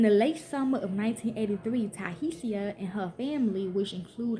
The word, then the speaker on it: Tiahease: when another resident of the motel asked Tiahease, pronounced Tiahease, to go to a local market to give them a pack of chicken wings.